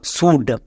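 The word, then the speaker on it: should: Next তারপর চলে আসো এর পরে ডি আছে, এল সাইলেন্ট, ডি এর জন্য ডো, তাহলে এর উচ্চারণ কি দাঁড়ালো? শুড।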